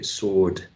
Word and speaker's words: sword: Okay, sword.